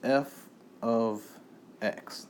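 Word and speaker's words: f(x): And it's pronounced this f, you see f parenthesis x close parenthesis, this is pronounced, come on now, this is f of x. That's all you say, f of x.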